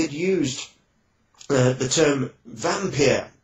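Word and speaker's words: Wampir: that time he had used the the term vampire spelled w-a-m-p-i-r it would have been pronounced vampire but vampir and the the character was count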